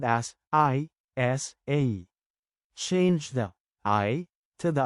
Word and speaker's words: isa: well now let's practice is a is one one in Tagalog change I to the American letter e and a t a